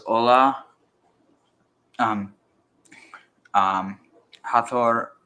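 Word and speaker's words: Hathor: said by the way the right pronunciation is hator hator hator or hat or if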